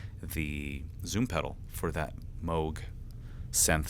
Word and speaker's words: Moog: I was corrected by a friend earlier today that it's pronounced Moog.